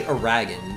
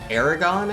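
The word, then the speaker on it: Eragon: you say that name I used to say a Ragan but I think it's pronounced a different way Aragon I think yeah Aragon I read those I read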